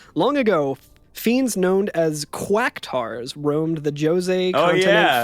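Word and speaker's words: Qactuar: well i don't know there's no u there it's still it's like q a q a q a so it's like it's still cactoir is about the cube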